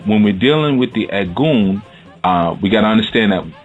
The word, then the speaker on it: Egun: had oh so we have what's called the egg goon and ed goon is spelled e G you and okay and the